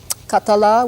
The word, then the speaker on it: Catalunya: Peninsula with its own language culture and traditions khattala which is how you pronounce the name Catalan in the language has